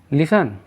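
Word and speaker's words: listen: लिसन, लिसन में T silent है यानी सुनना।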